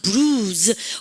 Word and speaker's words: bruise: 오란 bruise. 오란 브루스 가면 혼납니다. 즈발은 발음이 떴다면서 bruise.